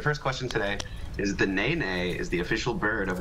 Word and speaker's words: nene: um so your first question today is the Nae Nae is the official bird of which U.S state hmm Nene is how you pronounce it yes and I've never heard of